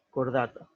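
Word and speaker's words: Chordata: Recuerden que esto se pronuncia como una K, cordata.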